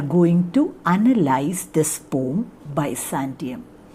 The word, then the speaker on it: Byzantium: to analyze this poem by santium some people used to pronounce it by sanshee now but i feel that the better pronunciation is by santium uh and so here